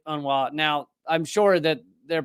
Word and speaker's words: UNRWA: beginning of this and I was pronouncing it you rwa apparently uh those in the know the the cool kids who spend a lot of time around un uh pronounce it Ana now I'm sure that